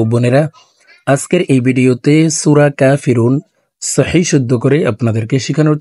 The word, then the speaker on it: কাফিরুন: আমার সঙ্গে কয়েকবার বললে সূরা কাফিরুন মুখস্ত হয়ে যাবে এবং সহি শুদ্ধ উচ্চারণ হয়ে যাবে।